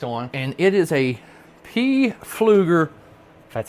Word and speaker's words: Pflueger: My next one I have 4-lb test on and it is a Pflueger That's how you say it.